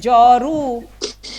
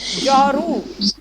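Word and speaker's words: جارو: ঠিক আছে, তো এর পরের শব্দটা হচ্ছে জরু। জরু, জরু, জরু ফার্সিতে কি?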